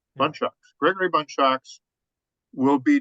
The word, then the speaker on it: Bundschoks: Gregory is it pronounced how how do we pronounce your last name Greg just so it's bun shocks bun shocks bun shocks Gregory bun shocks will be doing his Icebreaker